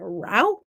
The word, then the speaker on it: route: other people say rof I say root other people say route route 66 root 66 sounds like root I think it's root to me even though it's spelled route I don't know I say what I was taught I guess all right I'm